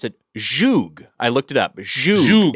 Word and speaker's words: zhug: Hodgman, Mitch, and we were unsure how to pronounce it. Zhug.